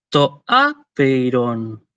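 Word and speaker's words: τὸ ἄπειρον: Bueno, pronunciando el diptongo EI como se debería, ¿no? Es decir, como una E larga cerrada, como dicen los fonetistas. Entonces sería algo así como toaperon, toaperon, algo así.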